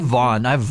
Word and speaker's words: Vaughn: I have Vaughn. Vaughn. But not spelled like Shawn, but with a V. Okay. Yeah, so not like VAUGH. It's like VHAWN. Vaughn. Just after me.